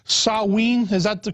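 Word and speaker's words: Samhain: know the real name I think was called saen is that the correct the correct pronunciation yeah in in the Celtic britishes yeah sa it's spelled s m ha a i n but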